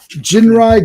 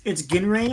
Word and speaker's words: Ginrai: So Jinrai God on Jin. Now it sounds like they Jinrai. It's Ginrai, I think. Yeah, but if I'm trying to listen to how they say it, it's like Jinrai.